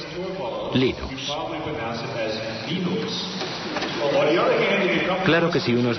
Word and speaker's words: Linux: Sin Internet, el desarrollo de Linux habría sido como querer jugar al ajedrez por correo.